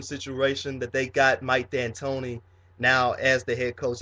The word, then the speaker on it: D'Antoni: And I call him Mike D'Antoni because the D is silent.